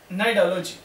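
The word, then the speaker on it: Cnidology: The next one that is नाइडोलॉजी, यहां पे एक वर्ड जो पहले लगा हुआ है सी, ये साइलेंट है।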